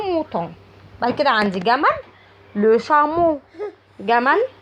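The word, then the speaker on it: le chameau: بعد كده عندي جمل لو شامو، جمل لو شامو. برضو بصوا هنا الاو ا اللي في الاخر بيتنطقوا او.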